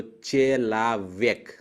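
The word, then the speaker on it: человек: ओ पे स्ट्रेस नहीं है, मतलब ओ आ जैसा प्रोनाउंस होगा। तो चेलाव्यक, चेलाव्यक।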